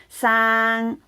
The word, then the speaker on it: 生: 生 this is double A 啦，生啦，you can also pronounce as a single A.